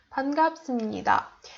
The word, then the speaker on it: 반갑습니다: 반갑습니다. You have to put your stress into their last syllable. So it's 만나서 반갑습니다. 다. You emphasize so and 다.